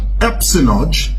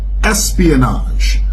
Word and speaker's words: espionage: you the Powerpuff Girls it's not epso it's Espionage the word Espionage is spelled this way and this is how you say it Espionage Espionage is the